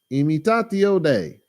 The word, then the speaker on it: Imitatio Dei: Let me try to pronounce this word right. It's Latin. Imitatio. Imitatio Dei.